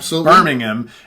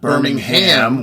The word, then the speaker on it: Birmingham: I've actually been on numerous occasions thanked for my pronunciation of Birmingham and not Birmingham, which is what most U.S. folks would probably say.